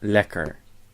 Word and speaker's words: lekker: The consonant is double, so the first E is short. And the R is an English R, because it's at the end of a syllable, so it's pronounced lekker.